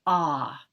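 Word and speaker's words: ཨ: like this okay and the sound of that syllable is ah and it's considered one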